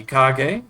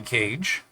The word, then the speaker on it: Kage: may already know him that goes by the name of Johnny kage or Johnny Cage as uh he pronounces it now I see k-a-g and I think kage but it is cage and uh it looks